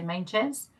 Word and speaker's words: Meintjes: South African but um here in the UK we we basically say main chance but if you're in